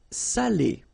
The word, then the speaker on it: salé: So if you don't put the accent, it means dirty, and then you pronounce it sale. But in that case here, okay, you put the accent, and it's quite important because in that case it means salted, okay? Salé, okay?